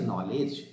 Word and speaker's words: knowledge: In modern English, although that K is silent, mute, still the K is there because the root word is Keno.